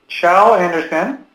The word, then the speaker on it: Kjell Andersen: And now, if you've been wondering how his name is pronounced, Kjell Andersen. That's how it is pronounced, as I learned.